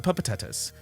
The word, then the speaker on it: Pupatatas: 2 P's at the beginning, pa, 2 T's at the end, ta-ta. The Pupatatas.